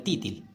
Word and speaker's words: तीतर: अब आगे हम देखते हैं, जैसे कि आप देख पा रहे होंगे पिक्चर में यही है तीतर, इसको बोलते हैं तीतर। आप देहाती भाषा में जाएंगे तब बोलेंगे तीतिल, तीतिल इसको बोलते हैं देहाती भाषा में, जैसे गांव देहात में।